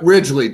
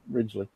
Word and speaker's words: Ridgley: Ridgley? Yep, Ridgley, just like the landmass. Yep, Ridgley.